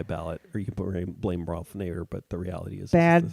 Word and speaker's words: Ralph Nader: No, I'm saying it's Ralph Nader.